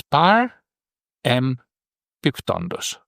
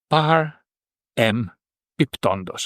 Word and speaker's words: παρεμπιπτόντως: Separate it and say it's par em pip ton dos. Par em pip ton dos.